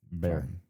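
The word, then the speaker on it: Bexar: I figured out what uh Bear County because B X A R is county in Spanish. Bear Bear County.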